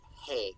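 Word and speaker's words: hē: like he and him that is hey in old things just h-e when it's spelled like modern english he um but he h-i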